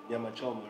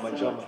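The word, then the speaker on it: nyama choma: delicacies are very dope, like nyama chuma, like that's very dope, like, Nyamachoma, right? Yeah, did I say it right? Yes. Nyamachoma. Nyamachoma, I'm sorry.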